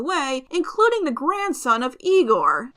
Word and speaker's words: Igor: including the grandson of Igor. No, it's pronounced Igor. But they told me it was Igor.